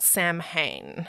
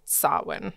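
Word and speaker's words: Samhain: super hard yeah and not like the way you read it is just nothing like nothing yeah at all um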